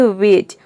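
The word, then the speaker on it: wedge: तो देखिए, rule number 1 है, यदि किसी वर्ड में डी के बाद अगर जी ई हो तो डी साइलेंट रहता है, मतलब कि डी को आपको प्रोनाउंस नहीं करना है, डी का उच्चारण नहीं करना है।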